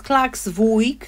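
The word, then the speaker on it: Klaksvík: mówię jeszcze jakoś inaczej niepoprawna poprawna nazwa to jest klaksvik No bo mamy tam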